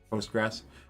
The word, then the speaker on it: Postgres: mysql mssql postgre how do you say that postgres posters postgres a dynamodb mongodb elasticsearch awa certifications preferred got